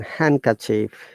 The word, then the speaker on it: handkerchief: come to this verse letter d is also not pronounced in these words if you're handsome it's not handsome it's handsome then handkerchief sandwich not sandwich okay